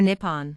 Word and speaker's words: Nihon: The Japanese word for Japan is, which is pronounced Nihon or Nippon, and literally means the origin of the sun.